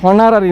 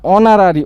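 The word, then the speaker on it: honorary: তাহলে এটা হনারারি, একটা এইচের যে উচ্চারণটা আছে হনারারি না অনারারি, ওর উচ্চারণ হচ্ছে অনারারি, তাই এখানে ডিলিট হয়ে যাচ্ছে এসটা।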